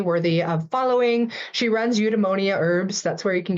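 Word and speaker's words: Eudemonia: and is definitely worthy of following she runs udonia herbs that's where you can get most of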